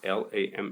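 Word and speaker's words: lame: It's spelled l a m e, but it's pronounced lam, it seems.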